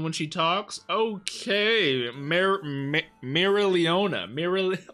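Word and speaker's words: Mereoleona: when she talks okay mira leona mira it's so hard to say her name so i'm assuming they don't pronounce the o too heavy in her name and i'm not gonna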